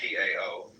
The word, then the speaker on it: Tao: They might just as well have spelled it D-A-O or D-O-W.